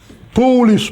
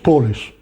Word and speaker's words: Polish: Even to make this point even stronger, I will write these two words which are written almost the same, but which are pronounced completely differently. Polish, Polish.